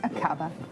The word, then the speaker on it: Aqaba: Aqaba? Is that how you would pronounce it? Yes, Aqaba. That's right, Iris. It's Aqaba in Jordan.